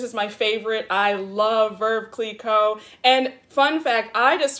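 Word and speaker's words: Veuve Clicquot: and true this is my favorite i love verve click co and fun fact i just found out that it's verve it's pronounced verb click code not move key club i know it's confusing because there's no r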